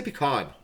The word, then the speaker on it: pecan: No, I say pecan. I say pecan, I think. Pecan. Pecan. Pecan. I think I say it both ways, but if I'm trying to sound fancy, I'll say pecan.